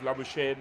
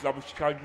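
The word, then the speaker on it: Labuschagne: good isn't he I was initially tempted to use the Australian pronunciation of labush but marus labush himself says it's labag in South Africa so I'll resort to that nice dive from Davis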